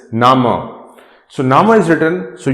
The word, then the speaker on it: Name: word is written so this is name in english but nama in german in german this is nama so nama is written